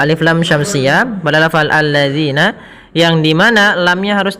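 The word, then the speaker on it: الذين: kemudian pada lafal zina hati-hati dalam melafalkan kan zalnya. Jangan sampai kita membacanya dengan zina. Alladzina enggak. Tapi dia alladzinaatalladzina alladzina panjangnya adalah dua harakat.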